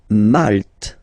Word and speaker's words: Malte: Malte. Same thing here, you don't insist on the final E.